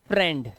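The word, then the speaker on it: friend: क्या होता है ये वर्ड हमारा होता है फ्रेंड क्या होता है फ्रेंड तो यहां पे ए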